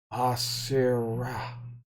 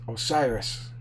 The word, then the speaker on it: Osiris: This, as he says, Asira. I mean, Osir. Yes, Osiris. Yes, sorry. Trying to pronounce the name, I'm not used to the foreign name speaking and such.